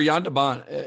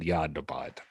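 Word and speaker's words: Jan de Bont: deont yeah so remember yand deant he's a fellow I probably should have said yand debond but yeah yeah well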